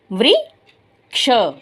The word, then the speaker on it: वृक्ष: व को ऋ वृ क्ष वृक्ष।